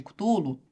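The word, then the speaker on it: Cthulhu: leu o chamado de cutulo ninguém sabe eu pronúncia eu chamo de tulo Mas enfim caso você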